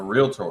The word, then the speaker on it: realtor: say that for me what's a realtor a realtor a realtor okay that's a two-syllable word all right and then